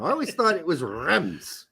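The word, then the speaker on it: Reims: don't know I never really thought it was pronounced Reams anyhow I always thought it was rem's right but now it turns out it's awesome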